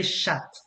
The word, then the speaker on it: chat: have to warn you never pronounce the t when you mean cat because if you happen to say chat uh it's just a word for in french okay oh oh so never say shut okay and if my